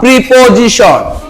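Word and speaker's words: preposition: এবার দেখো প্রি, পি আর আই থাকলে প্রে না বলে এখানে প্রি উচ্চারণ করব জোরে। প্রি, পো, প্রিপোজিশন, প্রিপোজিশন, ঠিক আছে?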